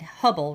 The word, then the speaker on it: Hubble: Like I said, Hubble rhymes with trouble, and to my mind, Ray Ellen was anything but wonderful.